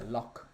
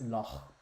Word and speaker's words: loch: They don't say loch, it's loch. In Scotland they say loch. So I've been asking a lot of people about it, and apparently it's Loch, but obviously my character can be called Stormloch.